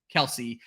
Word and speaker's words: Kelce: changed their own name they are the only faction of the Kel family who pronounces their name Kelsey and it basically got started because if I remember this correctly their dad's boss pronounced it incorrectly their dad never corrected him and that is something they just held on to very interesting story that